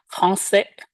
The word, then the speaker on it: français: Kalau tanpa sedi, maka dia dibacanya menjadi onke dan garçon. Malah. Karena ada ekornya, maka kita baca menjadi français garçon.